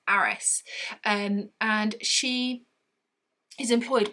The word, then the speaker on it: Harris: lady called mrs harris but she has a cockney accent so she's pronounced as it mrs aris and and she is